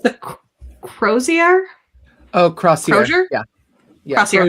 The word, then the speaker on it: crozier: No, it's the Crozier.